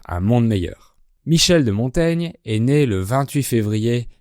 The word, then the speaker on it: Montaigne: le seigneur de Montaigne aujourd'hui on prononce Montaigne mais à l'époque on prononçait montagne donc le son gne